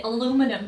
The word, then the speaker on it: aluminum: But Americans say aluminum.